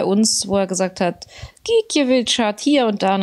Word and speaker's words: Gikiewicz: Und er hat gesagt, Mensch, wie wird denn der Name ausgesprochen? Und da hat er dann irgendwie gesagt, Gikiewicz.